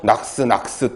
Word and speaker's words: NOx: 이거를 그냥 줄여가지고 낙스 또는 뭐 녹스 이렇게 발음하기도 하는데 그거는 뭐 아무래도 상관없습니다.